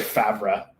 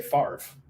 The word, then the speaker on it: Favre: You know, you don't say Favre, you say Favre.